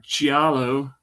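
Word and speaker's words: Giallo: is considered the uh the father of Gialo, if I'm pronouncing that right.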